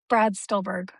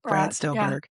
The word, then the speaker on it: Brad Stulberg: Can you pronounce his name again for me? Yeah, Brad Stulberg. Stulberg. Brad Stulberg.